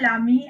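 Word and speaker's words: l'ami: So here lami and lami, there's no difference in the pronunciation here, and this becomes lezami, and this is again lezami.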